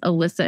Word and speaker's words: Ilissa: mostly active on Instagram so it's Alyssa and Co and it's my name is spelled all messed up so it's it's i-l-i-s-s-a and then um a-n-d-co